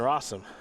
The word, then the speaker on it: Rossum: 200 over his teammate jonathan rossum it rhymes with awesome and he had an